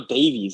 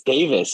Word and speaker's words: Davis: I'm like, Gabriel Davies. I'm like, wait a second. It's Davis.